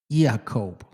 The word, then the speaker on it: Yaakov: The J is not in there. It's Yaakov.